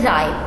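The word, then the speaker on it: ripe: इसी तरह से राइप, आप RIP 3 लफ्जों की आवाज़ निकल रही है लेकिन ई साथ है, उसकी आवाज़ नहीं निकल रही है।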